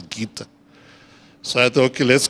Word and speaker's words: Goethe: And she said, yes, I don't know if it's Goethe, but I think the pronunciation is Gita.